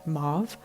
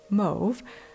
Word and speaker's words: mauve: pronouncing mauve wrong, because there's a British pronunciation, which is what most Canadians pronounce it as, which is mauve. And then I understand that most or many Americans pronounce it mauve, but I grew up